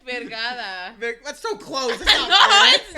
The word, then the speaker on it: Vergara: Varga? Vergara. How do you say her last name? Vergada.